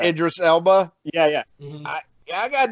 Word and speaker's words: Idris Elba: I I think uh I can never say his name right. I always call him Urbis Derbis. Oh yeah. Yeah. Yeah. Ibis or something. Yeah. Yeah. Idris Elba.